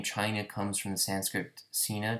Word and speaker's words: Qin: chinese history the name china comes from the sanskrit cena derived from the name of the chinese kin dynasty or qin dynasty it's pronounced chin although it's spelled q-i-n which was translated as